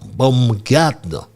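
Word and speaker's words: Baumgartner: And one member that Bran spoke about my straight dog family was a doctor Andre or Andreas Bongatner Bongatner that's the right pronunciation and brand did take his time as I and went through all these members of the project team.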